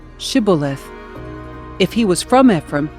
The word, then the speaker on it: Shibboleth: tell him to say Shibboleth. If he was from Ephraim, he would say Sibboleth, because people from Ephraim cannot pronounce the word correctly.